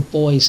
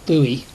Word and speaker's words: buoy: a couple of little boys in I know in the states you pronounce that buoy but that we say boy over here even though we spell it the same way so the little floats